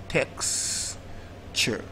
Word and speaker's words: texture: Option D is pronounced texture, and it's also not the answer because the mistake for option D. Texture. It's not the answer because the sound before the short sound is ch and not j.